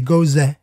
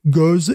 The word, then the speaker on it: Gose: disait Gose, donc voilà, je vais dire Gose, comme elle, tu vois. Bien sûr. Je sens que les Allemands vont rire de moi, mais ça, c'est pas grave. Donc, on l'a prononcé à la française, la Gose, à la française, la Gose, n'est-ce pas?